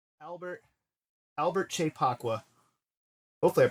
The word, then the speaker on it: Kyei-Poakwa: moment in a nightclub enjoy Albert Albert chepaqua hopefully I pronounced that right yeah you did nice okay